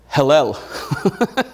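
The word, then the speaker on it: הילל: sorry that is pronounced hellel sounds like hell doesn't it where's the devil going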